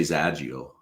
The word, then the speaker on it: Xagio: Z I say Zagio. Okay. Okay. If it were a Z in the front.